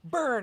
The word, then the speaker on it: Byrne: not the name right Rose Byrne burn I knew I wasn't saying it right yeah um so